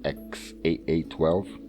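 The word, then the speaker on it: X Æ A-12: That's how you pronounce it, XAA12.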